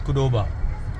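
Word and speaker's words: Qdoba: The first T is silent. यह सामने की तरफ एक मेक्सिकन रेस्टोरेंट है। रेस्टोरेंट है। इसका नाम है कुडोबा क्यू डी ओबी ए।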